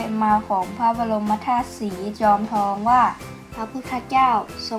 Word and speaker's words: จอมทอง: วัด พระ ธาตุ สรี จอมทอง หรือ ที่ ภาษา เหนือ ออก เสียง ว่า จอม ตอง เป็น วัด เก่า แก่